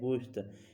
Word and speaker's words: گوشت: گوشت، گوشت یعنی گوشت۔ فقط تلفظ کا فرق ہے، باقی کوئی فرق نہیں ہے۔ ہم کہتے ہیں گوشت، فارسی والے کہتے ہیں گوشت، یہاں وہ گاف پر ضمہ پڑھتے ہیں، گوشت پڑھتے ہیں، ہم کہتے ہیں گوشت،